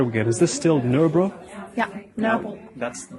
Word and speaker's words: Nørrebro: what neighborhood are we again is this still no bro yeah no that's the pronunciation you can help me with no bro no no bro yeah very good i'm working on it i've